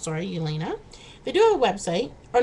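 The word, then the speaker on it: Jelena: me j-e-l-e-n-a but i believe it's called the elena it's pronounced sorry elena they do a website or no they're on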